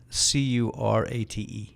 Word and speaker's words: Korate: Is it spelled like karate? Curate.